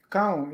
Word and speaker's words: Koung: Can we say Koung will have, how do you pronounce Koung again? You say, everybody say Koung, you say Koung? Koung, yes.